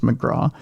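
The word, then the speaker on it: MacGraw: It's pronounced McGra.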